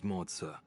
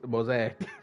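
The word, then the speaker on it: Moze: My name is Moza. Moza. I didn't even know that's how you pronounce his name. I forgot. I thought it was Mosaic or something like that.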